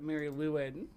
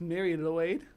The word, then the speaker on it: Mari Lwyd: I think the lady we're looking at today calls it Mary Lwyd, but it's Mary Lloyd.